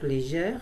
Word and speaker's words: légère: Donc légère, c'est un E ouvert, donc on met un accent grave, un accent grave.